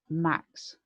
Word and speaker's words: MAQS: And one of the ones that I've said several times before is actually Max, which is spelled MAQS.